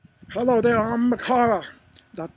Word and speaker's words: Makara: Hello there, I'm Makara. That's spelled M-A-K-A-R-A.